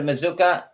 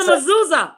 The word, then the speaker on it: mezuzah: The Mazuka. It's like I don't even know if I'm pronouncing it the right way, and I don't want to. I don't know how to pronounce it. It's a mezuzah. Mezuzah. Yes, that's it.